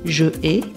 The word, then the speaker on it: je hais: On prononce donc je hais et on comprend qu'il s'agit du verbe haïr.